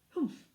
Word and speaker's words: humph: Humph, said the Sand Fairy. If you read this story aloud, please pronounce humph exactly as it is spelt, for that is how it is said. Humph!